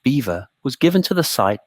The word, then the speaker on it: Belvoir: The name Belvoir, pronounced beaver, was given to the